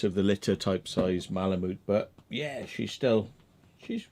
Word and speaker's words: malamute: really pronounce it but i think it might be malamute so it's like a moot yeah so the u